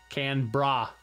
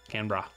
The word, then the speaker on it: Canberra: think anyone likes Canberra did I can Barrow Canberra now you gotta be wondering about how to pronounce Australian cities thanks Aaden jeez I probably pronounced that wrong I'm sorry Australian Capital Territory I was gonna ask can bra can bra okay Canberra I understand now I'm